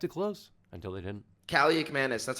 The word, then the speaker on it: Kaliakmanis: Kaliakmanis, that's how you pronounce it, right? Kaliakmanis, yeah, Ethan Kaliakmanis.